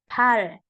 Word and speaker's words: 발: Nah, kaki real kalau di bawah dibaca L. Pal.